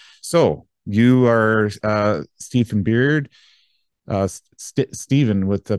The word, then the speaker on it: Beard: name oh really yeah people decide Baird b-a-i-r-d or I I've come to just say Steven beard like the facial hair on on your face and then it